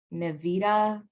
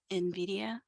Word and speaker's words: Nvidia: by 16 slot the main main manufacturers are nevita or how do you pronounce that in the in Nvidia Nvidia and ATI radiant radon and that's it